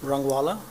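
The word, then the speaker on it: Rangwala: Uh my name is uh Rangala. Uh it's spelled A L I A S G A R. last name R A N G W A L A Mr. Rangual, could you give your qualifications to testify as an engineer?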